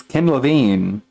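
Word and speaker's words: Ken Levine: been around with Bioshock you don't know how to pronounce his name it's Kim LaVine from him he the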